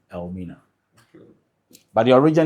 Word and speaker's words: Elmina: language meaning the M but through the pronunciation of the name Al minina by the locals the name was corrupted into Elina but the original name